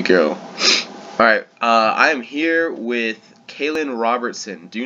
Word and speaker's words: Coalan: you're good to go alright I'm here with Cailin Robertson do not mess that up he is always sure to make it known that it's pronounced Cailin he's an ex rebel media contributor and now